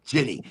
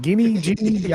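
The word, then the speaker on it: Ginnie: That was a great, and that's Miracle Leaf in Ginny Springs. Is it Jenny? Like, how do you say it? Jenny, like in Jenny? Forrest Gump.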